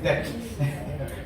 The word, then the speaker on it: debt: pronounce ചെയ്യും ഡെപ്റ്റാണോ ഡെപ്റ്റാണോ it is debt be silent okay it is debt